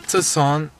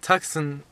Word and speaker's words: Tucson: where we're gonna sleep we're in Tucson Tucson yeah sorry I pronounced it Texan a moment ago anyway we're here and